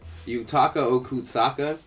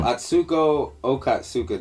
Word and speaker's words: Atsuko Okatsuka: Yutaka Okutsaka. Wow. No, Atsuko Okatsuka. Damn, I butchered her fucking name.